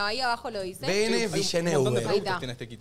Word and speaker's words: Villeneuve: Villeneuve se dice, pronuncia Villeneuve. Se escribe Villeneuve.